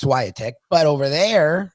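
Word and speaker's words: Świątek: The W is more like a V.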